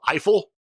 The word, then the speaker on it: Eiffel: band from 1998 called Eiffel I can pronounce that one because it's Eiffel Tower um and a 1977